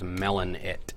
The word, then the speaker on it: melonit: The password for the Rhymes with Play server is melonit. One word, all lowercase. As in bop it, but melon.